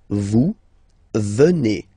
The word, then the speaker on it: venez: Then, classic ending for vous, EZ here, and then you pronounce it et, vous venez.